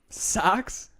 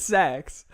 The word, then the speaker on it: Sachs: Socks? Sax. Sacks. Saches. How do you want me to say that? It's Sachs. It's spelled like Goldman Sachs.